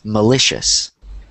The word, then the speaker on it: malicious: So the C-I-O-U-S is pronounced like shus.